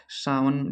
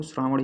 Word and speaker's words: श्रावण: ही रहे होंगे कि सावन जो होता है कह रहे हैं ना सावन है। सावन में झोला चलिए झोल कर आते हैं। तो वही श्रावण लिखा हुआ है इसमें। इसका शुद्ध जो उच्चारण होता है वो श्रावण ही होता है।